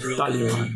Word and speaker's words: Talisman: But we pronounce it Talisman. What? The S is silent. Just like Django.